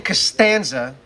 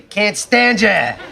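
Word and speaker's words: Costanza: a lot of cananga he purposely mispronounced my name instead of saying castanza he'd say caner which is always fun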